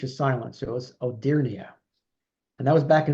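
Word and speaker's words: Hodierna: about before in previous uh gsps Giovani Batista odia and I finally found out today by Googling how he pronounce his name that the H is silence so it was odia and that was back in 1654 Robert Burnham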